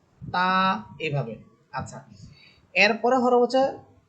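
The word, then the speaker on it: ت: সামনের উপরের দুই দাতের গোড়ার সাথে লেগে স্বাভাবিকভাবে এক আলিফ টেনে আপনাকে উচ্চারণ করতে হবে। তা এভাবে আচ্ছা এখানে তা হরফের একটা সিফাত আমি বলে দেই।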